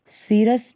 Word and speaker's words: serous: अब इसके बाद इसको हम लोग दूसरे शब्दों में और क्या कहते हैं, इसको हम लोग पेरिकार्डियम को सीरस पेरिकार्डियम भी बोलते हैं या सेरस पेरिकार्डियम भी बोलते हैं।